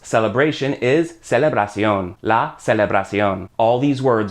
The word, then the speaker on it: celebración: Celebration in Spanish is celebración, TION to CION with an accent on the O, but other than that, those are the same words. Celebration is celebración.